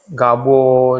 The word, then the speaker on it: Gabo: Cara bacanya apa sih kalau gabo?